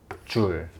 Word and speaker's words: 줄: 두 번째로, 이 일이라고 하는 것을 우리가 측정하여 단위를 사용할 것이기 때문에 단위적인 표현을 한번 해보자면, 일의 단위는 J라고 쓰고 읽을 때는 줄이라고 읽습니다. 줄.